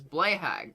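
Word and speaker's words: Blåhaj: The correct way to pronounce it is Blayhag, right? Like the shark plushie.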